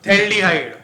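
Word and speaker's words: phthalaldehyde: नाम थैल्डिहाइड P silent है।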